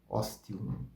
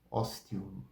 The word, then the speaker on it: ostium: sejam seguidos de vogais se eles aparecem no início de palavras ou são precedidos pelo S pelo X ou pelo t a pronúncia é do T como tiara tiara tiara ostium ostium ostium brutium bruttium brutum